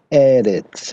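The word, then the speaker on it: ארץ: A palavra Eretz. Você já percebeu, Nefesh e Eretz são palavras paroxítonas, né? Acentuada na primeira sílaba aí, né?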